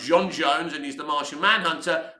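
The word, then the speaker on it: J'onn J'onzz: And you've got John Jones, whose actual name is pronounced John Jones, and he's the Martian Manhunter, but he's also, I think, a policeman.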